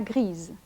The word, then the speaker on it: grise: Listen to the difference in pronunciation between le gris, la grise, le vert, la verte. Le petit, la petite. Le grand, la grande.